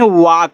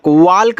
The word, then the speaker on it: walk: WALK इसको पढ़ते हैं वाक। वाल्क नहीं पढ़ना है, वाक पढ़ना है।